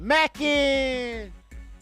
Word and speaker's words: mackin': I know now what mackin' means. And you got to say it like that. You got to drag it all the way out. Mackin'.